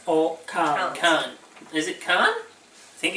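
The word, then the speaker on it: Cannes: Carl Khan is it con think it's got that you don't pronounce the S on the end because it's French the tube they're too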